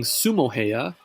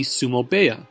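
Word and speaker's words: sumo-beya: heya is pronounced baya therefore instead of saying sumo hiya the correct pronunciation would be sumo baya this rule also applies when talking about a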